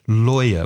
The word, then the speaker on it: lawyer: woman I will gather lawyer would be careful of the pronunciation many students confuse the vowel sound or with I so liar is mentiroso or